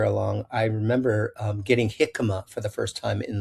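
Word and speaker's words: jicama: I didn't know how to even pronounce it. I I thought it was Jikima, right?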